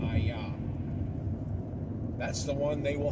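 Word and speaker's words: IAH: That's the only one that actually spells it I-A-H with the pronunciation of ayah.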